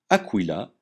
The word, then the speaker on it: Aquila: exemple Anas le canard qu se prononce que comme dans Équateur jamais que comme dans ornitorinque exemple Aquila l'aigle S se prononce